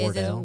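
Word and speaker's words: Wardle: Yeah, but it's spelled differently. So you know how Wordle is like word. Oh, it's like Oh. it's like Is it Wardell. ward like ward? Wardell. Yeah, Wardell. Yeah.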